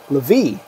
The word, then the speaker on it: Levi: My name is actually pronounced Levi.